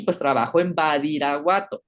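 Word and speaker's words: Badiraguato: Y pues trabajo en Badirahuato, así se pronuncia Badirahuato, Sinaloa.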